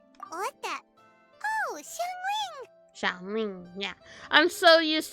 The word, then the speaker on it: Xiangling: All thanks to Shanling. Or, I think that's how you pronounce her name? I forgot. Hold up. Sorry. I am not good at pronunciation. What the? Oh, Xiangling!